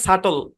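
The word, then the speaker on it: subtle: ওকে, তারপরে দেখি, খেয়াল করেন, SUB TLE, এই শব্দের মধ্যে বিটি একসাথে আছে। এখানে এই শব্দের মধ্যে বিটা সাইলেন্ট। এই শব্দের উচ্চারণ হচ্ছে সাটল। কি উচ্চারণ? সাটল, সাটল। টি হালকা উচ্চারণের সহযোগিতা নিয়ে এল এর উপর পড়বে ই সাইলেন্ট। হ্যাঁ, ওই যে কনসোনেন্ট এল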